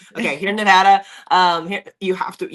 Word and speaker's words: Nevada: Nevada, Nevada. Nevada. Nevada. Nevada. I got it. You're in Nevada. Nevada. Yeah. the e I have to get the e at a time. Okay, here in Nevada um here you have